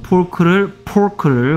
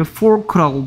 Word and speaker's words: pork: 뭐 pork를 fork라고 발음하지 말라고 얘기했습니다.